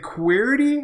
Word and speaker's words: Qwerty: And Q, is it Qwerty or how do you pronounce this?